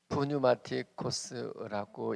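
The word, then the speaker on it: πνευματικός: 헬라어 원어로는 푸뉴마티코스라고 읽습니다.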